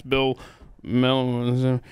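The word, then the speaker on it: Melugin: Fox reporter on the border, whose name I can never remember how to pronounce, Bill Mel.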